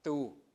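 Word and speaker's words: þu: This is a thorn, right? TH. So you pronounce it tu, right?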